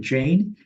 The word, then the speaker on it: Jain: find me uh on LinkedIn most easily Jane uh and I respond to 100% of messages uh that people send me on linked so glad to be helpful and and Jane is spelled j a i i n right right